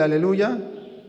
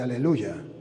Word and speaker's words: aleluya: Y de allí que los salmos hablan del aleluya y el Apocalipsis habla del aleluya, no habla de aleluje, habla de aleluya, aleluya es Yahvé, no Jehová, no se dice alelu sino aleluya.